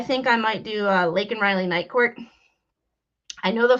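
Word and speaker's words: Laken Riley: the thumbnail I the lake and Riley case starts tomorrow and lake and Riley um Joe Biden could never say her name ever say he called her Lincoln Riley the only time he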